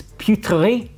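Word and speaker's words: Peuterey: I always screw up the pronunciation, but it's Putri.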